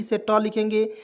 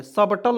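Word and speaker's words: subtle: एस से स लिखेंगे, बी से यहाँ पे देखिए बी को इसमें साइलेंट करेंगे, टी से ट लिखेंगे, और देखिए एल को से ल लिखेंगे, और देखिए ई को भी इसमें साइलेंट रखेंगे। तो क्या पढ़ेंगे दोस्तों, एस यू, देखिए यहाँ पे एस यू बी टी एल ई, सटल पढ़ेंगे, सबटल नहीं पढ़ेंगे।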